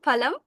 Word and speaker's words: ফল: এখানে ফল শব্দ বলবো আমরা, ফল বলবো না, ফল বলবো না, কি বলবো, ফল। এটা দাঁত থেকে আসবে না বা দাঁতের ফাঁক দিয়ে বের হবে না, এটা বের হবে দুটো ঠোঁটের মাঝখান থেকে, দুটো ঠোঁট একসাথে হয়ে